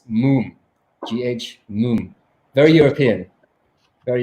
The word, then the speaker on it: Mumm: later so it's not it's not mum it's not mom it's moon gh moon very European